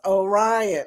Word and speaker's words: Orion: Orion is pronounced Orion.